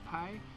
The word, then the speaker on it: Pyles: at the front desk told me that it's pronounced by PI and Cole's Mountain so I apologize for